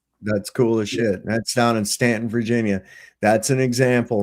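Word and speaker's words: Staunton: It's uh it looks like Stuntton. S T A U N T O N. Uh but it's actually pronounced Stanton.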